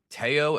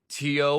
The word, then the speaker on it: Teo: And yes, it is pronounced Teao. At least that's how they pronounced it in the trailer. Not Teo like Leo.